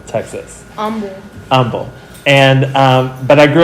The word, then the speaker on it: Humble: from humble texas but in humble we don't pronounce the h so we say humble texas humble and um but i